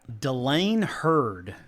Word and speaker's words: Dylane Hurd: Dylane Hurd. And did I pronounce that correctly?